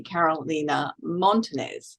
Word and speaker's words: Carolina Montanez: I am Janine Bosper, your host, and I have with me Carolina Montenez. Have I pronounced that correctly, Carolina?